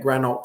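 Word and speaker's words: Granault: 38 Grand 38 Granite will spell it for you. This is great. Get to show people. So, G R A N A U L T.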